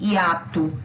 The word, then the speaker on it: hiato: A própria palavra que está aqui, hiato, se escreve com O no final, mas pronuncia U.